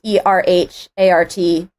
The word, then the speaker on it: Erhart: My last name is not spelled like Amelia Earhart's last name. It is pronounced the same, but it's different.